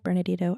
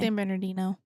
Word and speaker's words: San Bernardino: Bernardino. Bernardo. I say it wrong. You're fine. San Bernardino. I'm like, I had a tea in there that doesn't belong.